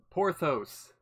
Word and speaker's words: Porthuous: Porthous. Now I know how to pronounce it.